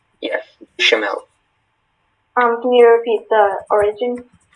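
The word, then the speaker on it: béchamel: Bechamel, am I pronouncing that correctly? Yes, bechamel.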